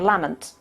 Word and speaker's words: Lamont: Andre you'd probably recognize most Scots would say lament he used to say lament when he was known as we per Nori and the sh in later life but after after Loretto in Cambridge it became Lamont well there you go